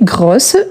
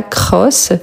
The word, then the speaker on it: gros: Donc ici grosse, il faut doubler le S. Gros grosse. OK gros grosse c'est G. Ce n'est pas C. Ce n'est pas cross. C'est gros grosse.